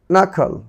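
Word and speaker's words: knuckle: এরপর রয়েছে নাখল, নাখল, নাখল। তাহলে এখানে দেখলে এন এর পূর্বে, প্রতিটি এন এর পূর্বে কে ছিল, কিন্তু তার উচ্চারণ হয়নি।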